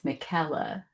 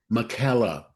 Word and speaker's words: Micaela: It's always the hard part is the first name is Mckela. Mckela.